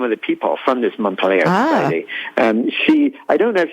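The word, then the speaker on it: Mont Pelerin: Well, it also sounds, the Montpelier, am I pronouncing that correctly? Montpelier Right.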